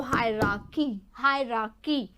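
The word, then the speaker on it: hierarchy: Okay, high era, समझिए इसको, high एराकी, और ये राय तो साइलेंट रहता है, तो हायरार्की, इस तरीके से ये स्पेलिंग है।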